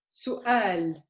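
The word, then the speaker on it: سؤال: Su'al. Do you hear it? In the middle, su'al. A Su'al. little bit. Yeah, it's after the u.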